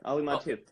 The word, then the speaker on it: Mattu: Am I pronouncing your last name right? Yeah, Ali Mattu.